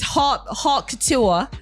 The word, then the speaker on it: haute couture: It's Haute Couture, Paris Runway, okay?